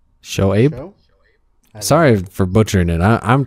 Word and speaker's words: Shoaib: Show is how you say that. Abe. Show Abe.